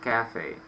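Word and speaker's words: café: In Russian we say cafe, and in English we say same word, only the accent should be on the first syllable, like cafe.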